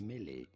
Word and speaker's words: mêlée: Shut In up and French it is pronounce said as Prince. mêlée.